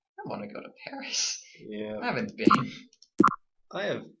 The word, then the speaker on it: Paris: Well, the locals pronounce it Paris.